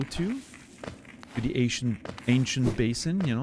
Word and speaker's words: Basin: is this the ancient you pronounce that Basin or Bassin the ancient whatever that is Basin Basin okay first way basin so clearly I mean